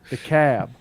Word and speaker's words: DeKalb: But The Cab. yeah, the cab. Yeah. The Cab is DEKALB, Mm-hmm. but the L is silent.